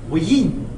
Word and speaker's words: Wien: That looks like wine. Wien. Wien. Wien. Wien. It's German. It's pronounced Wien.